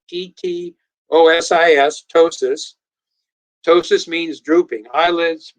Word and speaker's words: ptosis: else the first thing that's noticeable is there's ptosis this is spelled p t o s is ptosis ptosis means drooping eyelids breasts organs the